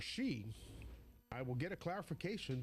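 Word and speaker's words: Hsieh: Ying-Chen Su, spelled H-S-I-E-H, and I believe that is pronounced Su, or she.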